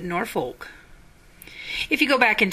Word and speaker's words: Norfolk: brewed in northeast Nebraska is it pronounced Norfork or is it Norfolk if you go back